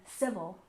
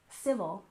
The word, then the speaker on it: civil: have Civil Rights Movement we stress the first syllable in civil civil and movement we stress